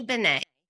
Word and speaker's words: Benne: Benet.